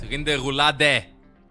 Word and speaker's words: Rinderroulade: Pronounce the E at the end. Rinderroulade. My bad. I was getting it in French.